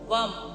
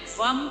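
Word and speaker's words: वं: पर ले आइए और अब हम बीज मंत्र वम बी ए एम वम का उच्चारण करेंगे और इस वम की एनर्जी को अब्सॉर्ब करेंगे।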